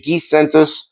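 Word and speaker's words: Giannis: Gizentos, that's how it's pronounced, by the way.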